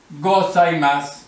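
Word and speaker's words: ございます: you are there that gozaimasu. Gozaimasu. Attention at that. That is zu, but the u in the Japanese language in the end is lost. Don't pronounce it.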